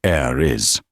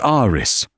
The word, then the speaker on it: Aris: Aristhornne, she said, mispronouncing the first name as air is. It's Aris, Aris corrected softly, politely.